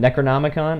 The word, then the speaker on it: Necronomicon: started you said it right the first time Necronomicon okay cool did you ask him payment no